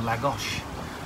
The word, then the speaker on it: Lagos: Vincent and we have a TSS scheme there we need to navigate around and then into Lagos or la gosh as a noun being told how it's pronounced life on board good my terms cook